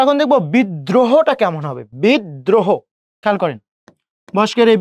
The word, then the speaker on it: বিদ্রোহ: বিদ্রোহ, খেয়াল করেন, বস্কের বি।